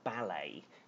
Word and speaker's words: ballet: And notice that this word ballet, B-A-L-L-E-T, yeah, but we don't pronounce the T on it.